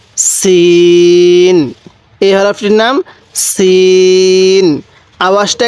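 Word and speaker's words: سين: নোক্তা বলা হয় তাহলে সিন সিনের আওয়াজটা একটু চিকন করে শক্ত করে উচ্চারণ করব সিন এরপরে সিন এই সিনের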